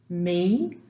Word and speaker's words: mi: Mi, the I is pronounced as a long E.